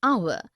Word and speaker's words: hour: air an honest an hour because the words air honest an hour begin with a vowel sound as the initial consonant H is not pronounced article one we use